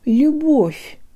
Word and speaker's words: любовь: Here, let's borrow from Welsh. I think there's this really cool double L sound they have, like an L with a really high tongue position, but they breathe through it with no vocal cord vibration, as if it were an H.